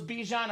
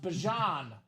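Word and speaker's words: Bijan: We thought it was Bejon. Apparently pronounced Bjon Robinson on that clean Falcon Flex.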